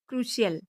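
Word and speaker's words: crucial: ओ यू D cloud P का अगला rule है पी के बाद आई ए या आई ओ आए तो सी का उच्चारण श होता है जैसे एस ओ सी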